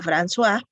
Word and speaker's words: François: Dice Francois, en francés se pronuncia François, coma, príncipe de Joinville,